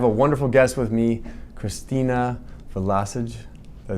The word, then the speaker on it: Christina Vlosich: Today we are at the 2022 NASDAQ conference, and I have a wonderful guest with me, Christina Vlosich.